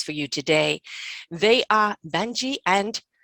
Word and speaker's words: Banjii: two wonderful guests for you today they are banji and mayuri have i said it right or